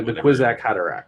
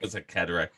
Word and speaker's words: Kwisatz Haderach: Kazwat. The Kwisatz Haderach. Kwisatz Haderach.